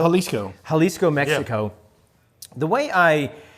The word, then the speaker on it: Jalisco: Born in is it pronounced Halisco or Jalisco? Halisco.